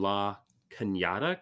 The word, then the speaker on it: La Cañada: She's 19 from La Cañada, California.